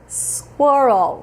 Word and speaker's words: squirrel: gente não fala screen real a gente fala Squirtle vamos devagarinho Vamos por partes você puxa o